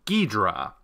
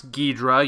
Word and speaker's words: Ghidorah: the air about stuff the impression certain people seem to be under is that I'm pronouncing this name deidre I hope now that you've actually heard me pronounce Ghidorah you can tell the difference between that and Ghidorah one of them clearly has two syllables the other has three see in Japanese a